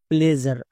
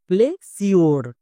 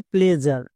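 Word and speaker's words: pleasure: প্লেজ plus আর কি হলো প্লেজার এই ওয়ার্ডের উচ্চারণটা হবে প্লেজার বাট অনেকেই একে উচ্চারণ করছো প্লে সিওর প্লে সিওর উচ্চারণ না এর উচ্চারণটা হবে প্লেজার তাহলে এবার কোশ্চেন হচ্ছে এস এর জন্য আমরা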